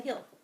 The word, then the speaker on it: hill: Yeah, we had to climb the hill. You keep changing. Keep saying heel and hill. It went up like this and we climbed it. Hill. It rhymes with mill. It's not meal.